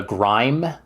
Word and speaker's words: GrimE: That used the engine, the Grime engine. So it was the Grim engine. They pronounced it Grime, but it was the engine that ran Grim Fandango.